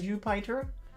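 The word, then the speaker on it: Jupyter: Now there's a package that has stopped working inside Jupiter even though it still works from the command line inside the Python virtual environment. That sounds really fun. I know you're supposed to pronounce it Jupiter, but it's spelled so I I I pronounce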